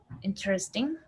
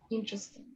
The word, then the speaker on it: interesting: Or, well, but in this case, you're an entire syllable, So how do you Yeah. say this? Interesting. Interesting.